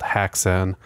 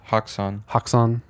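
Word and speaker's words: Häxan: An ah sound. Haxan because when you like Blue Oyster Cult, the O in oyster got the two dots and it's pronounced O.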